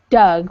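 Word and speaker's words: Doug: well for the family so dug that that's just somebody's name it's it sounds more like dug which is also a verb to dig so it's just the you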